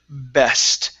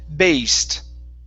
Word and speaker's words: best: And let's go to the word best. Now here you had said based. Okay, give me a short E. Okay. Best. Okay.